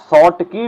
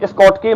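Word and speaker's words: Schottky: पहले वाले को बोलते हैं शॉर्ट की डिफेक्ट, शॉर्ट की डिफेक्ट बोल दिया इसको, ठीक है ना। और स्कॉट की मत बोलना क्योंकि एस साइलेंट रहता है, तो इसलिए बोल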